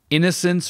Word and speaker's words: innocents: Innocents raped with napalm fire. Innocence is pronounced more or less the same as innocence.